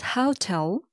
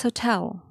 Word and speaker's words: hotel: It's not hotel, it's hotel. Don't stress the first part, how. It's not hotel. Do stress the second part, tell.